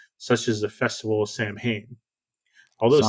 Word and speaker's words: Samhain: traditions of Halloween, such as the Festival of Samhain. Although Samhain is not mentioned on the first film.